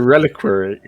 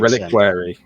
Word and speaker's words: reliquary: It's a reliquary.